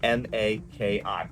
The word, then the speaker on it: maki: Okay, that was uh kata maki. All right. K A T A M A K I. Maki. Think of like, you know, one arm wrap. Like a maki. Like maki.